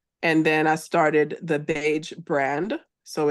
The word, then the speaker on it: Baje: then I started the beige brand so it's t h b AE brand so miss beige and the beige brand and beige sounds like the color but it's spelled b a j e so those are the